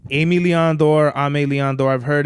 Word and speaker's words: Aime Leon Dore: The funniest shit I've ever heard somebody say is, I got this Ozmillen Dore. Hilarious, bro. It's Aime or Aime Leon Dore.